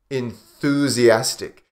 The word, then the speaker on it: enthusiastic: Enthusiastic. This one can be difficult because of the TH sound, the soft or the voiceless TH. Enthusiastic, enthusiastic, enthusiastic. 5 syllables. Enthusiastic. Stress is on this one.